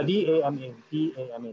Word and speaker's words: Dama: It's called Dama, I think. Oh, am I right, Kiwi? Am I pronouncing? Is it D-A-M-M-A? Yeah, D-A-M-A.